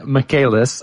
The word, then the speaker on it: Michaelis: And again, our guest today is Kristen Michaelis. I mispronounced it last time I said it, so I'm going to say it twice correct this time. It's Kristen Michaelis, and she is the